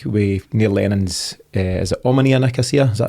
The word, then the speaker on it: Omonia Nicosia: I mean, there's a case there, and you're right in the face there this week with Neil Lennon's, is it Omonia Nicosia? Is that how you pronounce that?